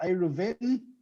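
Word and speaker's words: Eruvin: So we're learning right now about a Reuven, or maybe you'd say in the English, it would be Eruvs, Eruvs plural, or Eruven, if it was, if we're talking about a Hebrew pronunciation.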